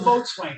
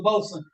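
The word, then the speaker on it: boatswain: Um, one of them is the boat swing, also known as the bosen. Proper pronunciation.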